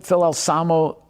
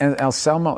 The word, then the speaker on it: Anselmo: It was Phil Alsamo, is that how you say it? And Anselmo, yeah.